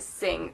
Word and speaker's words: Singh: thing that is matt singh in case any of you guys don't know how to pronounce that that is pronounced sing i want to say